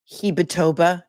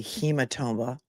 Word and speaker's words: hematoma: Heatboba is actually hematoma. Hematoma, not heboba.